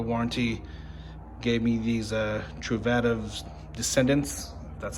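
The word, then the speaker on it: Truvativ: uh cover the warranty gave me these uh truvadas descendants that's how you pronounce it they also upgraded the bottom bracket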